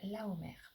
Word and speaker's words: Lahomer: Alors, le mot, c'est Laomer. Ça s'écrit Lahomer.